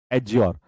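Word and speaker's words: adjure: यह एड्ज्योर था। यहां पर डी साइलेंट होगा। डी क्या रहेगा? साइलेंट। साइलेंट। ठीक है? टी यहां पर साइलेंट होता है। टी यहां पर होता है साइलेंट एज्योर।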